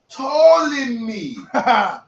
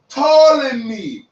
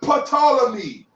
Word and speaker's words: Ptolemy: Look, Ptolemy. Ptolemy. There's no P sound, you dummy. Stop saying Ptolemy.